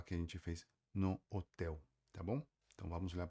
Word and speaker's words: hotel: E o jeito certo seria falar hotel, tá? Qualquer palavra, tem bastante palavra em português e espanhol que se escreve do mesmo jeito e termina com ele, tá? Então você precisa praticar para você falar aquele L, tá? Do jeito que nós falamos, beleza?